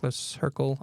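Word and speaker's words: Lecercle: his name is Jean-Jacques Lassercle. I don't speak French, so that's going to be as close as I get pronunciation-wise. It looked like Leclerc, but it's not.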